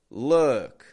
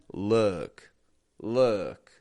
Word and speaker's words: look: Luke. Bringing the corners of my lips inwards. Ooh. Whereas, look. Totally neutral. Our teeth are close together.